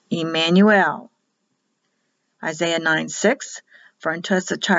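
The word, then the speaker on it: עמנואל: It'll be pronounced E in Hebrew. Emmanuel.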